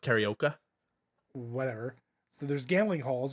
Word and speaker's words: karaoke: It's pronounced karaoke.